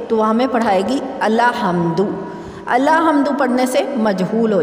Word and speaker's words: الحمد: اس طرح سے بنا الف زبر لام ال، ہا زبر میم ہم، دال پیش دو، الحمد۔ اور اگر ہم اپنی نانی یا دادی سے پڑھیں گے تو وہ ہمیں پڑھائے گی الحمد۔ الحمد پڑھنے سے مجہول